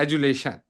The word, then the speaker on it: adulation: अब ये जो ले है ना, ये कैपिटल में लिखा है, इस पे ज्यादा एम्फसिस करना है, एजुलेशन।